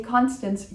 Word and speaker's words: Constance: Ideally, not too many N's in Constance, but if you say Constance, you will be understood.